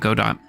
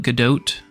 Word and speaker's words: Godot: it's hard to say every language has their own different way to pronounce it so there are a lot of people who call it God do also some people who call it GDOT some people call it